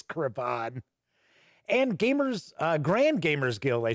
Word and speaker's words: Cravon: I do not believe it's pronounced Craven. I think it's Cravon.